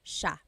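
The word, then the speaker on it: siya: to point out about sha. First is the pronunciation. It looks like it should be pronounced sa cia, but it's actually pronounced sha sha. So the s i y, it's a sha sound. Sha.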